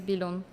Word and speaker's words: Bilun: It's very Can you say it and can I pronounce it? Yeah. My name is Bon. Bon.